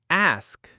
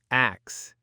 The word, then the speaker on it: ask: Next, ask, not axe. Keep the S before the K.